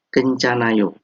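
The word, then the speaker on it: 괜찮아요: Jadi kencanayo. Bacanya kencanayo. Artinya tidak apa-apa. Jadi ilustrasinya kejadiannya ketika seseorang mungkin nggak sengaja menginjak kaki orang lain, maka yang ninjak tadi minta maaf, cesong hamnida.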